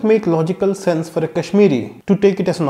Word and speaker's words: Kashmir: We in Kannada say Kaashmira however the actual name is "Kashmir".